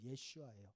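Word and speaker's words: ישוע: 어 예 예슈아 예슈아 예수님의 히브리식 그러니까 그 당시 아람어 발음입니다 우리는 예수 하고 영어로는 지저인 지저스가 제일 엉망이에요 저 어떻게 보면 원래 원어 발음은 예슈아 우리가 한국말 예수가 훨씬 더 원에 가까워요 어쨌든 그 히브리식 발음을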